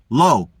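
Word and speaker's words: לא: Spell God backwards, you get the word no, which is pronounced in Hebrew low, which is lame olive.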